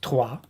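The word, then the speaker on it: Troyes: it's written troye s in english but it's pronounced tua and that's where um a very uh prominent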